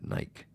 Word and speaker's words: Nike: I've been reminded that Australians pronounce it Nike.